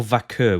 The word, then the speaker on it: Vaquer: let's move on then Stephanie v or vaker we can't quite decide how to pronounce the name the last I heard was vaker so I'll stick with that so do you remember